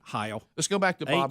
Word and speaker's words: Heil: Heil. Let's go back to Bob Heil. It's H-E-I-L.